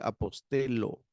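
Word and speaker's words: ἀποστέλλω: Ya en este caso no es como en castellano que sería como elle, sino directamente apostelo.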